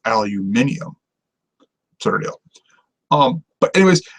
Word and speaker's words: aluminium: you know observable on it's like how we say aluminum when the correct British pronunciation is aluminium turtle um but it